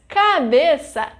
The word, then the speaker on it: cabeça: Because cabeça is a paroxítona.